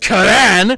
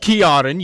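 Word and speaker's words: Ciaran: Actually, dumb It's pronounced Karan, not Kiarin.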